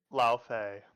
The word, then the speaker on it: Laufey: I've just never heard how to pronounce her name. Lao Fei. Laufey.